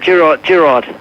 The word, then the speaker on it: Giraud: Do you pronounce your last name in the French matter, Giraud? Giraud in French. Giraud. Is that how you say it, though, in South Africa? Pardon? Is that the way you say it in South Africa? That's, well, in South Africa I said Giraud.